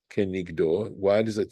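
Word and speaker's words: כנגדו: V'kavanat halashon ukrinan kenigdo, and the intention of this expression, and we actually pronounce it as kenigdo.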